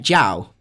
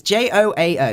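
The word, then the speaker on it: João: Like Jow? I'm not 100%. It's Joao, Jow. Because I've got a lecturer called Jow, and that's how it's spelled.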